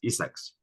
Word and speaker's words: ESSEC: Claudia, your business school, is that read out every alphabet or is pronounced as Essex? Essex.